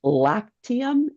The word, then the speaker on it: Lactium: Can you just pronounce it slowly for me? So, it's called Lactium.